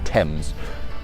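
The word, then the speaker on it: Thames: Tames. Don't know. I've heard people pronounce it, Tames, Fames, whatever. It's pronounced Tame's.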